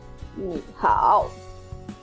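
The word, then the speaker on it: 你好: When a third tone followed by another third tone, they are going to be pronounced as second tone. For example, 你好 ni hao, ni have a third tone, and hao and followed by hao, which have a third tone. So ni will be pronounced as ni hao.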